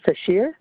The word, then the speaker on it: Sashir: Sashir. I believe I pronounced that right. This meeting is being recorded. Sashir, but you could pronounce it.